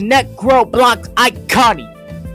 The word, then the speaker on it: Necro Iconic: Necroblocks Iconi said, "Hey, you mispronounced my name." It was Necro Iconic. Get it right next time.